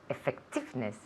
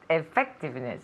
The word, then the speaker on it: effectiveness: in the second yes in the second syllable we put the accent so try again Effectiveness oh no effect Effectiveness okay okay good so